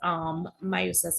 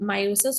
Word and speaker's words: meiosis: All right, so we will hold off on these questions with meiosis and mitosis. So meiosis or meiosis, depending on whoever is teaching you, would pronounce it differently, right?